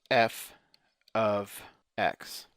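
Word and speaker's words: f(x): MX plus b and the way you say that is you pronounce it as f of x okay so this would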